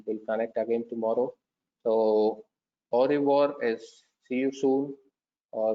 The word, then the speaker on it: au revoir: Au revoir is to see you soon, but the pronunciation is au revoir.